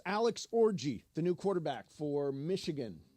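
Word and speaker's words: Orji: I wanted to mention is yes it's Alex orgy the new quarterback for Michigan Alex orgy o rji I right yes and it is pronounced we've checked it orgy orgy good for him yeah I like that name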